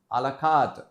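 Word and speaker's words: à la carte: word so this is alakat alakat so the again in French actually it is called alakat so alakat basically means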